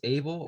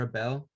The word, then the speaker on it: Abel: yeah man so uh my name is abel or a bell um oh sorry it could be maybe either either way uh you know abel's that's how you say it in spanish you know yeah so